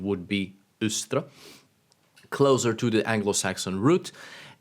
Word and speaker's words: Eostre: out in that previous video a more correct pronunciation would be ustra closer to the Anglo-Saxon route and the pronunciation